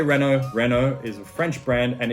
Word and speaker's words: Renault: next up we have renault i say renault renault is a french brand and it is pronounced renault if you want to hear how it should be pronounced correctly and not butchered by my horrible accent the renault formula one team boss cyril abitabul pronounces it